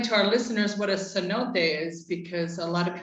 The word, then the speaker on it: cenote: and let's explain to our listeners what a cenote is because a lot of people may not know that's spelled c e n o t e cenote